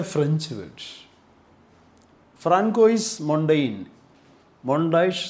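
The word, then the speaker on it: Montaigne: The pronunciation is mondash, not mondaine, mondash.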